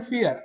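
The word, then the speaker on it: vier: Four four को बोलते हैं फियर। आपने एक वर्ड सुना होगा इंग्लिश के अंदर डर जिसका मतलब होता है डर। फियर बिल्कुल सेम प्रोनंसिएशन है फियर।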